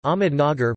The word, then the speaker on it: Ahmednagar: ahmud Nagar pronunciation is a city in Ahmednagar district in the